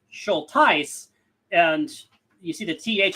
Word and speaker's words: Schultheiss: It's pronounced schol and you see the th is like th No.